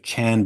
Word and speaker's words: Chan: sees as sort of Chan Buddhist which is another way of saying Zen Buddhist Chan is the Chinese pronunciation of the same character that is as pronounced Zen in Japanese he's worried about people